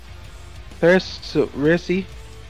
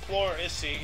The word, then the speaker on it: pleurisy: standard gauge, dies of Chrissy at 68. What is that? Okay. Sounds brutal. It's apparently pronounced pleurisy, is a condition in